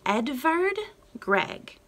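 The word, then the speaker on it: Edvard Grieg: is going to be edvard gregg now you've probably not heard his name before now edvard edward it has a v rather than a w like edward in english it's spelled that way because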